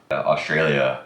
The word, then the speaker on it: Australia: Every A makes a different sound. Australia.